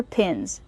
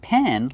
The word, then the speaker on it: pin: Pronunciation, use the short I sound like this is. Pin. Not pen like you write with, but pin.